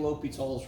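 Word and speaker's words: L'Hôpital: If you're applying Li Tall's rule, put a little LH. And by the way, the dude that came up with this, his name was Li Tall. It's spelled like hospital.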